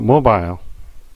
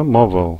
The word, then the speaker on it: mobile: 이번에는 mobile 또는 mobile 그러죠. mobile. 예. 이렇게 뭐 발음이 두 가지 경우가 있고요.